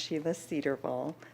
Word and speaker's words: Sheila Cedarvall: By the way, my name is pronounced Sheila Cedarvall. You were very close.